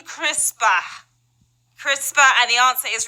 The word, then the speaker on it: CRISPR: Now, we don't mean crispier, we mean CRISPR.